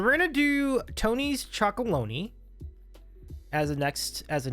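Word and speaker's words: Chocolonely: Tony's Chocolone. Like baloney, but instead of baloney, it's chocolone.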